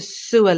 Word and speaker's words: sewer: water or sewage uh Sue Sue like SOA the stress is also on the first part of the word the first syllable um we have a contract to renew the sewer lines but if it sounds like sue the name Susan or if you were to sue someone in a court of law I sued